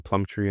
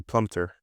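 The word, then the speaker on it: Plumptre: Biola Sol Chuku, uh who finally got the pronunciation correct cuz I was saying Plum Tree and stuff. Uh Ashley Plumpter is the correct way of pronouncing the name.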